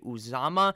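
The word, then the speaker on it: Uzomah: just do not trust usma at all and i would not want him on my team i think his name is cj uzama is how you actually pronounce it so i do apologize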